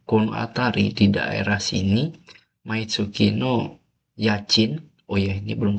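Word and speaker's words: 毎月: Kariru niwa maitsuki ini ya maitsuki jangan myetsu mauki setiap bulan maitsukino nani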